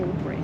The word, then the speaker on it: Albury: They pronounce it Albury.